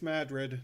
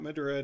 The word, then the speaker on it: Madrid: out the bridge and yes I am saying that correctly it's Madrid not Madrid I know it's spelled exactly the same they will bite your